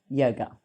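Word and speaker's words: योग: So how do you pronounce the word yoga? Yoga comes from the ancient language Sanskrit, the ancient language of Sanskrit, and it is pronounced yog.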